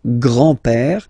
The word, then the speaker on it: grand-père: So, le grand-père, grandfather. Le grand-père. Remember, E accent grave like that. It's this opened pè.